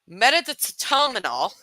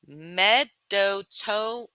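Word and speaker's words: medetomidine: Metatominol. That is not how you say it. Medotomine.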